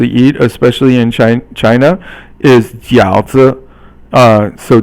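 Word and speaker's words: 饺子: You would think it's like fourth tone, but you actually pronounce it as silent. 轻声 is silent. So 饺子.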